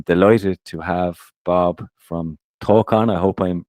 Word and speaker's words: Tawcan: but I am delighted to have Bob from toon I hope I'm pronouncing that right you can correct me but Bob welcome to the show yeah thanks for having me guys yeah it's pronounced Talan excellent my pronunciation can be a little bit